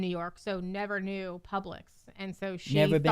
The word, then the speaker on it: Publix: you know it was Publix or did you like pronounce it wrong? Public. No. Publix.